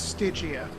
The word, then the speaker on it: Stygia: I'm sorry, it's Stygia. My God damn it. Look, I'm bad at pronouncing everything I was just in D&D.